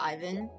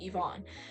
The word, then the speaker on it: Ivonne: Otaki, how do we feel about Ivan? Ivonne. Sorry, Ivonne. Okay, I know people are very particular on like the pronunciation, so I'm gonna pronounce it properly. Ivonne.